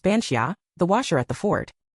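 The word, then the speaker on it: bean sídhe: forms, the archetype of the bean ny, pronounced bansia, the washer at the fort.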